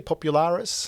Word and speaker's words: Popularis: and of course do i say it correctly popularis yes yeah popular and you also said greta's